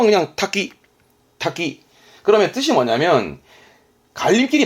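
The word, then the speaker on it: 多岐: 마늘 다자에다가 갈림길 기자에서 닭이 쓴 건데 발음 또 그냥 탁기, 탁기.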